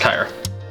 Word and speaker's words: Kyra: kid 77666 Kyra Kyra it is pronounced kyre and I just want